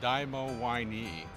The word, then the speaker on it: DiMoWiNe: us first of all how do you pronounce it it we we produce a dymo y knee and it stands for